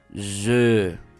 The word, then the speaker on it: je: Nuevamente, la E francesa es un sonido como si fueras a pronunciar la U con los labios así cerrados, congelados, pero pronuncias E. E, E, E. Si haces el ejercicio conmigo, E, ¿sí? Hace rato vimos U, pero ahora vemos E. Y bueno, la J es vibrante también. Je.